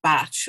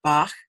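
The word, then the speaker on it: Bach: remedy yeah no but dr. Bacchi was Welsh and so his name is pronounced batch unfortunately not back I'm sorry they didn't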